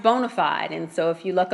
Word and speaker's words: BONA5D: five D credit consultants it's pronounced bona fide and so if you